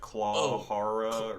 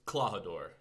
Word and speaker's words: Klahadore: No, well, I understand Kuro, but the other one that was like Clawhara or something? It's Klahadore.